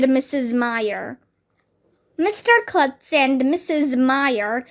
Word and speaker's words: Meyer: you said mrs meyer it will be easy to remember my name because meyer rhymes with fire that's funny said mr